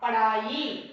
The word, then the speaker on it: पढ़ाई: और पढ़ाई, पढ़ा, पढ़ाई, लिखाई, लिखा, लिखाई बोले तो कौन सा प्रोनाउंसिएशन है, फर्स्ट वाला, फर्स्ट का प्रोनाउंसिएशन है नहीं, सेकंड का, पढ़ाई और लिखाई। पढ़ाई, पढ़ाई ये है पढ़ाई, ज्यादा लोग लिखते हैं तो उसका उच्चारण ठीक से नहीं आते हैं ना, इसलिए पहला डा लिखते हैं, तो यह गलत है, वैसा नहीं लिखना चाहिए।